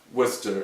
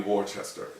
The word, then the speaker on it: Worcester: So his accent was part of the attraction and part of the arguments we had, because Worcester cannot be how you pronounce that word. It's got to be Worcester.